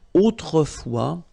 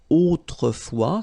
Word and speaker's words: autrefois: And then we've got this autrefois, so it could be translated like in olden days or in olden times, okay? Autrefois, so A-U, autrefois, final S not pronounced, okay?